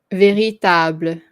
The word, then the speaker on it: véritable: Véritable. Véritable. Oops. Table. Yeah, you almost don't hear the E.